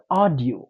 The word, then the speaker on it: audio: هر ځای کې چې تاسو وینئ کلمه په ای یو باندې شروع ده نو دا به تاسو آ تلفظ کوئ.